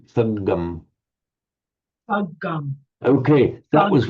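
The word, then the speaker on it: saggaṃ: But with a much more distinctly held double consonant, sangam.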